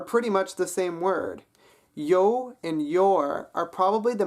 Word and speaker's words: jou: Yo and your are probably the most different, but only because there's a J in the Afrikaans word, even though that J is being pronounced like a Y, an English Y sound.